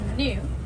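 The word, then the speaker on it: gnu: They're often called new. That's spelled G N U.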